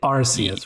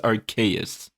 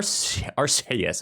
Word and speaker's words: Arceus: we go and i i think it's pronounced archaius no it's not like i believe it's rcs actually i heard that on ign's pod cast too where they were like i thought it was our arceus a huge like